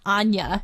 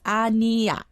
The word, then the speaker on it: Aniyah: means no you're right we say Anya right but it's not Anya it's a little it's a little different but if I am not mistaken you're right but it pronounced a little bit different it's odd Nia mm-hmm anyways Anya is